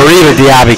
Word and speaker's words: Mariba Diaby: Henry, Bryson Davis, and Morabi Diaby. Tough name for me to pronounce there. Yeah, Mariba Diaby can't. Mariba Diaby, correct.